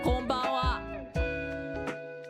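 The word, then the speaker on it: こんばんは: If the hiragana is succeeded by a B or a P sound, the hiragana assumes the M consonant. So now, so instead of konbanwa, we say konbanwa. So this is phonetically closer to M than N.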